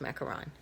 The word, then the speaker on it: macaron: pronunciations pronunciation is McCarron there is no long Oh or double oh and the long what